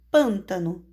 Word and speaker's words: pântano: Repare na palavra pântano. Eu vou separar. Pan, tá? No. 3 sílabas. A última é o no, a penúltima é o tá e a antepenúltima é o pan. Ou seja, antepenúltima sílaba tônica, ela é classificada como proparoxítona.